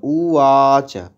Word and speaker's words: উবাচ: যুধিষ্ঠির উবাচ উবাচ ব নয় ওয়া উবাচ কিমে, কিটা হর্ষস্বর,